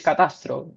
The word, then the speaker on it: catastro: The cadastre, yeah, in Spanish it's catastro, the cadastre, Okay.